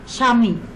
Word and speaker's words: স্বামী: বফলার উচ্চারণ এর নিয়মের মধ্যে আছে, এক নম্বর আমরা বলতে পারি, শব্দের প্রথমে বফলা যুক্ত হলে সাধারণত সেই বফলার উচ্চারণ হয় না, তবে আদিবর্ণটির উচ্চারণে ঝোঁক বা শ্বাসাঘাত পড়ে। যেমন স্বাধিকার, স্বদেশ, ধনী, স্বামী, স্বাগত ইত্যাদি।